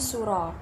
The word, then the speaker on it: Sura: Bulan Sura sering diucapkan dengan pengucapan bulan Suro.